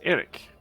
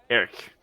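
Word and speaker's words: Aeirk: I can say that it is not Eric it is AER a-e-i-r-k Eric which is a little different but it sounds like Eric that's why I that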